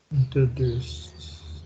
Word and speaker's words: introduced: Introduced. No, T. La T. Perfect. Yeah, that's the T sound. So we're going to say introduced.